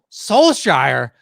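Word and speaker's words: Solskjær: asking and then uh solskir is that how you pronounce it so soul shire how the hell do you get that there is you can you can pronounce it with a a slight k inflection but i'm not i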